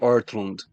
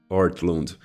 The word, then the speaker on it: Ortlund: Qual é a pronúncia certa, Tiago? Gavin Ortlund. Ortlund.